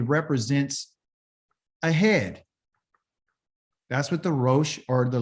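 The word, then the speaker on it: ראש: the name of a head is called a Roche same letters are a Resh and a shin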